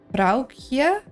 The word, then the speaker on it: vrouwtje: It's like the OU is like an ow like pronunciation. So vrouw. And then kje.